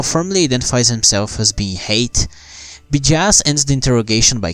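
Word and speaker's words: Hayt: for calling his name you see hate is pronounced just like hate interesting huh you CL like so bastard before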